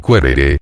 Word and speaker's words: quaerere: Quaerere, pronunciado querere, y luego querere, no era un simple querer algo, sino hacer indagaciones o búsquedas para lograrlo.